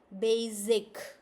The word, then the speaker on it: basic: Now, Evelina, your sound comes like basic, which is not correct. Z sound is not correct. S sound.